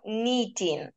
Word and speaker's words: knitting: Кей стає німою літерою тут, тому ми вимовляємо knitting.